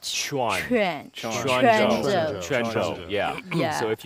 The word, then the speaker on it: Quanzhou: our audience, visitors to Quanzhou, please remember this is Quanzhou and pronounce Q as CH. Chuan. Quanzhou.